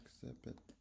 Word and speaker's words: exhibit: Exhibit. Exhibit. Exhibit. Exhibit. Yeah, the H is silent.